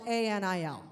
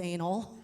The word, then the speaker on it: Anil: And um and on the Zoom invite, it said his name is spelled A N I L.